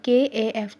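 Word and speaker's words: cough: कफ को ऐसे प्रोनाउंस करते हैं KAF कफ, और ये हमारे पास क्या लिखा हुआ है V।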